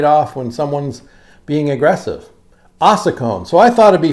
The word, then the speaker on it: ossicones: Ossicones. Ossicones. It's spelled like this.